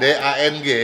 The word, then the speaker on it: Dang: Dang, D-A-N-G. Thong, bacanya Dang katanya.